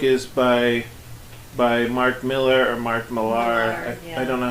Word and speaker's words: Millar: I think he pronounces it Mark Miller, but if you call him Mark Miller, then nobody knows who you're talking about.